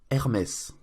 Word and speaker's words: Hermès: So here's a dubbed version with the correct pronunciation. Un jardin sur le Nil, Hermès.